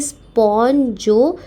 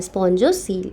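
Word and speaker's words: spongocoel: तो ये मूवमेंट देखो, ऑस्टिया से अंदर आया पानी, एक कैविटी में गया जिसे स्पॉन्जोसील, COEL कहा जाता है, स्पॉन्जोसील। इसमें कुछ वगैरह साइलेंट है, देख लेना एक बार।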